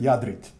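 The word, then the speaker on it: Jadarite: And the one on the right-hand side, I pronounced it differently, Stevan. I apologize. It's called, we pronounce that Jadrit, okay?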